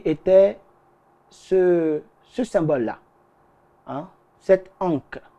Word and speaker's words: ankh: ce symbole-là, hein, cette ankh. On l'appelle l'ankh, mais en réalité, ça se prononce plutôt comme onga.